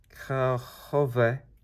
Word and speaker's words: kahve: This came from Arabian, I guess, and in Turkish pronounced kahve, the name of the infusion of or beverage.